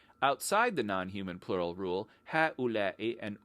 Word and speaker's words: هؤلاء: The Arabic word for these, when we're referring to people, is ha'ula'i, which is not pronounced phonetically at all.